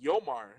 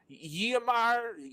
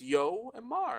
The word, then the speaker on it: Yomar: My real name is even more phonetically friendly, Yomar. But people try to make it something that is not like Yamar Lamar. Like, where do you see a L in there? What? It's Yoar.